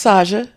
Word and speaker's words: Saja: Did I pronounce that right? Oh, it's Saja.